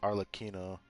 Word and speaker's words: Arlecchino: So they do say her name as Arlecchino.